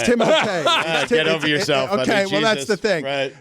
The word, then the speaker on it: Timothée: have trouble with because it's not Timothy Timothy it's not it's timote get over yourself well